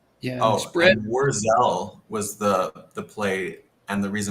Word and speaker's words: Wurzel: Oh, and I mispronounced a German word from our German expert in the chat, Wurzel. Wurzel.